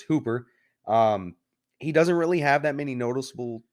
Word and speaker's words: Hooper: the director is one Tom Hooper or Hopper the Hopper's two-piece so it's Hooper um he doesn't really